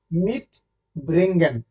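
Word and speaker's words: mitbringen: আছে না মাঝখানে দেখেন আপনি যখন মিট ব্রিঙ্গেন প্রোনাউন্সিয়েশনটা করবেন তখন দেখবেন মাঝখানে একটু গ্যাপ পড়ে মানে মাঝখানে একটু আপনাকে থামতে হয় যেমন মিড ব্রিঙ্গেন আন ফাঙ্গেন ঠিক আছে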